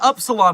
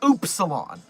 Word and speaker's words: upsilon: I've just been pronouncing the word upsalon as the word upsilon my entire life. And it turns out that I live in a Mandela effect affected universe apparently where it's actually pronounced oopsilon.